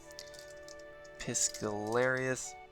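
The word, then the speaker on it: Piscarilius: Piscalarius.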